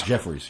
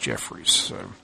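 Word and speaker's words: Jeffares: had interview with him so Jeffords yeah Jeffrey's Jefferies yes it's spelled GE ff8 re s but it's pronounced Jefferies yeah if you look at it you would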